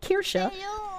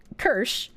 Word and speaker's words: Kirsche: the joke uh my my name Kira is pronounced like Kira but if you're pronouncing it like an American most Americans just say kers and kers kind of sounds like cursed so my my art